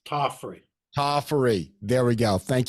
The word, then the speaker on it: Tofferi: know Hall of Famers Wayne Wong and Deery um I hope I pronounce that right I keep messing it up in my head first off how do you pronounce your last name it's tofy tofy there we go thank you very much